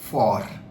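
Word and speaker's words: fort: If you look at this word faux, which means wrong, and another is for. T is silent, which means strong.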